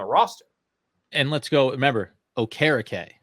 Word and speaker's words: Okereke: No keys. Okereke. Like carrot cake. Okereke.